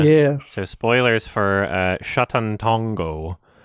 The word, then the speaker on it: Sátántangó: so spoilers for uh shatantongo uh is how the director pronounced it sorry because i'm scared